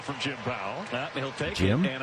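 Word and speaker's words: Pawol: Her name's not spelled like Powell, but that's how it's pronounced, Powell.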